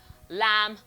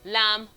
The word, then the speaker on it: lamb: So it's found in man, them, hammer, swarm, number, film, lamb, comb, womb, mercury, bomb, market. Okay, this is not comb. The B in comb, lamb, womb, and BOM are all silent.